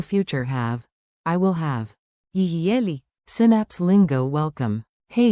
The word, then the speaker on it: יהיה: Tiny pronunciation tip, say it like a smooth free beat, yihye.